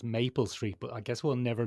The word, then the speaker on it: Maple Street: due on mapple street mapple street now Ben's put a little twist in it there because I think it's pronounced Maple Street but I guess we'll